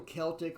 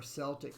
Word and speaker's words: Celtic: would be the universal Celtic or Celtic Tarot depending upon how you want to pronounce it if I pronounced it one way everybody yells at me that I should pronounce it the other way so pronounce it both ways that way I don't